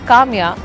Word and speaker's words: Kamiya: tamya which is falafel also rhymes with my name Kamya and there's also lab